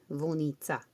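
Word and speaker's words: Vunica: V-U-N-I-C-A. Vonica. That's how it's pronounced.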